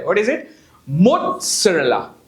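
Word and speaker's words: mozzarella: ऊपर जो चीज लगती है उसे बोलते हैं मोरेला तो स्पेलिंग है मोजरेला मोजरेला देर इ नो टी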